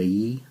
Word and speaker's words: Yi: GoPro against the Yi why I is how that's spelled the e action cameras and I